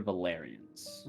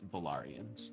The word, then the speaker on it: Valarians: legend lore on the is it valyrians or valerians valarians i said valerian last week but the way it's spelled is actually it's valorians v-a-l-a-r there's my notes it's in the recap um v-a-l-a-r-i-a-n-s those folks uh duran is